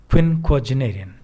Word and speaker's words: quinquagenarian: क्विनक्वाजेनेरियन, उच्चारण देखिए, प्रोनाउंसिएशन इसका क्विनक्वाजेनेरियन।